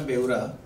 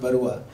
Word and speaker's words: बेउरा: In fact मैं एक थोड़ा सा correction, it's बेउरा नॉट बरुआ. बरुआ लोग आसाम से होते हैं, मैं उड़ीसा से हूँ. तो बट बेउरा जनरली क्या होता है कि मैं लोगों को जब कोई बेउरा प्रोनाउंस करने जाता तो बेउरा बोलता है, तो मैं उनको अतावस कर देता हूँ. तो इट्स एक्चुअली बेउरा, बेउरा.